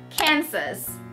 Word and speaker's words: Kansas: So earlier there's Arkansas and there is Kansas, right? You see the spelling, so it's almost the same, but it pronounced differently.